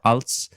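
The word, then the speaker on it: ailt: the general thing there a i l t so again your soft t at the end like we talked about before als for articles and then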